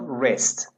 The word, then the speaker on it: wrist: This part of your body is called wrist. Wrist. W is not pronounced. It's a silent letter.